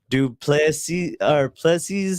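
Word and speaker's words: du Plessis: We have that UFC 305 you're talking about tomorrow, where Israel Adesanya is back, and he's eyeing Duplessis is how you say it.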